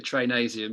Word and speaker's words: Trainasium: I always get this name wrong, but in P company, when you run along the top thing, is it Trinasium? The Trainasium, yeah.